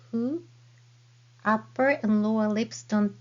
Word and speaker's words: ふ: This is hiragana hu. Hu is not a fricative sound like English F sound. It is more like blowing a candle very gently. Your mouth looks like U shape and say hu.